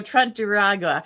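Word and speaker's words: Tren de Aragua: There we go, Trent Duragua.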